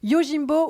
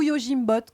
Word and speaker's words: Yojimbot: en tout cas donc yojimbo ou you jim bottes comme vous préférez selon ce qu'on prononce en anglais peut-être que gym boîte